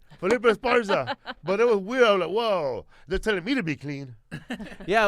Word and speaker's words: Felipe Esparza: Felipe Esparza. I fucking said it right. Felipe Esparza.